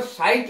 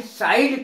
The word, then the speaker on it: sight: लोग कहते हैं आई साइड कमजोर है, साइड, साइड कभी कमजोर नहीं होती है। SIDE बिल्कुल गलत। आई साइट शब्द है।